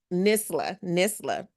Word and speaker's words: Nisla: Nisla.